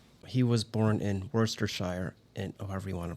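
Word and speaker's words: Worcestershire: He was born in Worershire and however you want to pronounce it in 1857. Go ahead, correct me. Elgar Worst Worstershire. Worershire. Yes. Yeah. Yeah. Yeah. No, it's Worister, but but it's Elgar.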